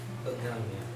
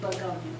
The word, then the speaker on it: Begonia: Begonia? Could you spell it? And is it like the flowers? Yes. Same. Okay. Yeah. Begonia. Yeah. V, that's a V. No. B. Begonia.